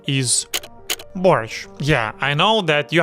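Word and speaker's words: борщ: Americans say borscht with a hard T at the end. That's wrong. Like borscht or borscht. The correct pronunciation is borscht. Borscht. See that sh sound? It's soft.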